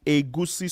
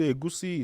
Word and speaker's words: egusi: Moving on, we also have egusi soup. So, egusi is spelled e g u s i.